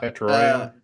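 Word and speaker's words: Tetairoa: Tetrario.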